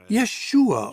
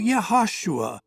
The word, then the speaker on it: Yeshua: época é provável que o nome de Jesus fosse pronunciado Yeshua ou yashua em hebraico ou Jesus em grego